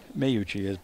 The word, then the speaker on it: Mayuchi: Mayuchi, as Bob says, you pronounce it.